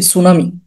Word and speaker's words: tsunami: এটা সুনামি যেহেতু জাপানি শব্দ, আমাদের মতো কিন্তু আপনার এস দিয়ে না। ঠিক আছে, এটা কিন্তু বানান আসে TSUNAMI, টি দিয়ে শুরু, এটা একটু অনেকে ভুল করে।